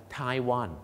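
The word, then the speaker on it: Taiwan: นี้ ทีม ชาติ ไทย ชนะ ฟุตบอล นะ ฮะ ไทวัน อ่า ไทว อ่า So ไวส ก็ คือ ชาว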